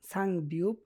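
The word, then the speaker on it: 쌍비읍: এগুলায় Korean উচ্চারণ হয় সাং গিয়ক, সাং দিগুত, সাং বিউপ, সাং সিউত, সাং জিউত।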